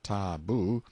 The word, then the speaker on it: taboo: places till the taboo taboo pronounced tabu means prohibition we've borrowed